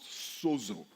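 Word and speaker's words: σώζω: The word saved in this verse comes from a Greek word that is pronounced sozo.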